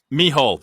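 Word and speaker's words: Mícheál: Is it Mihal? Mihal, that was it. It's the Neil, Irish Stephen, for Michael. Trucker Marty. Or is it Irish? Yeah, Mihal is Irish.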